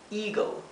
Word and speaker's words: eagle: Eagle, eagle, significa águila. Aquí también, cuando tenemos esta combinación de letras, la E con la A, la pronunciación es I, ¿bien?